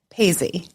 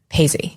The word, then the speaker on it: Paizzi: Paisy. Paisy.